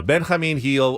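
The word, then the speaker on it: Benjamín Gil: I have decided uh it's Ben Hamin heel or Benji heel not Gil because I don't say Jose I don't say Jan it's a soft in Spanish that's how you pronounce it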